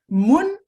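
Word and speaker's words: moun: in this cruel phrase moon could well be from is this actually from the monday moon m-u-n it's spelled in creole m-o-u-n and in any case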